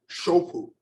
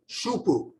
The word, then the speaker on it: shoupu: Then you have shoupu, S-H-O-U-P-U is one way it's spelled. Sometimes it's pronounced and spelled a different way. Shupu, S-H-U-P-U. Either way, means the same thing.